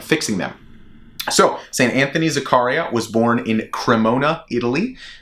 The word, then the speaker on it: Zaccaria: be talking about saint anthony zakaria or zachariah i think we're going to go with zakaria my uh my pronunciation in italian is not the greatest but saint anthony zakaria